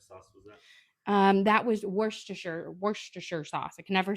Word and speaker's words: Worcestershire: It's one of those words that I think I say it different every single time I pronounce it, and I'm never confident which is the correct way. It's Worcestershire, but you can say Lee and Perrin.